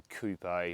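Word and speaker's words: coupé: I actually quite like the coup a or Coupe shape depending on where you're living and how you say it but I think it's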